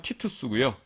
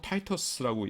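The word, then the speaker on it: Titus: 우리가 보통 디도 장군이라고 하는데 라틴어로는 티투스고요. 그 다음에 영어로 읽을 적에는 보통 타이터스라고 읽습니다.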